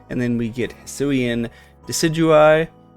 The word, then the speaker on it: Decidueye: And then we get Hisuian Decidueye, which I totally pronounced as Decidui for a while.